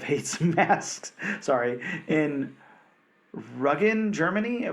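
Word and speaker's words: Rügen: Sorry, in Ruggen, Germany. Bob, how am I supposed to pronounce Ruggen? I think it's Rugen. Okay, that sounds more German than Ruggen.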